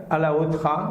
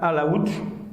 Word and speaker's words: Alaotra: à l'heure le lac alaotra alors ça se prononcent pas comme ça ça se prononce lac à la route est bon c'est un